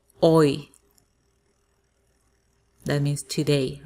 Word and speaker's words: hoy: Hoy. That means today. Remember, we don't pronounce the H.